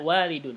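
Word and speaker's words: والد: nah buat pendek ya ingat waladun kalau nya ada Alif bacanya walidun Hai tapi enggak kayak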